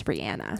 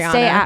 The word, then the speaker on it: Rihanna: The appropriate pronunciation is Rihanna. I know. Like, I love her and I try to say it right, but I still just sneak into saying Rihanna.